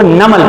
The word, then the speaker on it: NUML: इनको हम इस तरह प्रोनाउंस करते हैं, NUML को नमल प्रोनाउंस करते हैं।